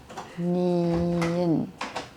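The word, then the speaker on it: 니은: Ini kita bacanya N, ya mereka bilangnya nien.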